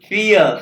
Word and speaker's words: vier: द्राय, और ये आई कटा ई की फियर, फियर फाइ नहीं फियर, फॉर एफ की आवाज, आइंस सवाए द्राय फियर।